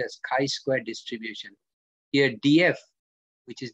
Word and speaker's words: chi-squared: use chi square written as g square but pronounced as chi-squared distribution here df which is degrees of freedom is n minus 1 sample size minus 1.